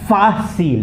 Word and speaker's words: fácil: Okay, so where we have an accent mark, we emphasize that alphabet, like this will be pronounced fácil, okay?